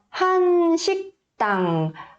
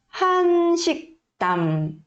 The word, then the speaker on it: 한식당: Mas quando começa, a gente pronuncia como se fosse um som de H do inglês. Ah, tá bem suave, tá? Mas se vier no meio da sílaba, geralmente é quase mudo, tá bom?